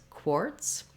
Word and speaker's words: quartz: And then when I'm saying quartz, I just have the k sound, the k, and the or together, core, quartz. Both of them, even though this is spelled with the letter Z, it has the s sound that we make with the letter S in quartz.